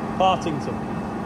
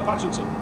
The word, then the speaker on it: Patrington: Partington. Partington. Oh, Patrington. Patrington. Patrington. Right, so I'm over at Patrington to do this Discussion Society talk tonight.